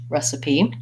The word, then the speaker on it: recipe: schwa so rests P recipe it means you're gonna have a long first syllable and second and short or second and third syllables you can learn about